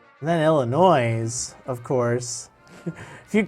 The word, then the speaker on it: Illinois: but it was kind of funny then Illinois's of course if you call it illinois' you're